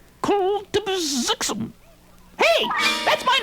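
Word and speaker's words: Kltpzyxm: Soupy's gone crackers, and I'll prove it by showing him how this vowel-less wonder sounds when I pronounce it without the vowels. Kultibzixum.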